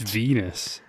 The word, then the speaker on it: Venus: It's Venus. Venus. Rhymes with my penis.